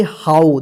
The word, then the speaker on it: how: HOW, इसको क्या पढ़ेंगे, हाउ, देखिए यहां पे HOW, यहां पे OW आया तो आओ उच्चारण हुआ, ठीक है, आओ।